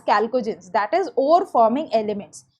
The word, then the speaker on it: chalcogens: H is silent, they are known as chalcogens, that is ore forming elements.